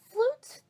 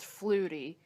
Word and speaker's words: Flutie: me that there was flute flute I it's pronounced Flutie whatever I'm already regretting